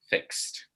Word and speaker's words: fixed: So after voiceless sounds like x, sh, s, sh, you know, and things like this, you use a t sound, fixed.